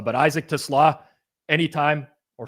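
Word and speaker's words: TeSlaa: You're pronouncing it like how I pronounce my car which is a Tesla. But Isaac Tlaw anytime or sllo like it's kind of like a cole slaw, you know?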